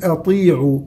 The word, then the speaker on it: أطيعوا: قل سبق أطيعوا، الطاء من حروف التفخيم لكن مكسورة أقل درجات التفخيم، فنقول أطيعوا وليس أطي أطي أطي، محاولة تفخيم مع دخول الشفتين في موضوع التفخيم ليس له أصل.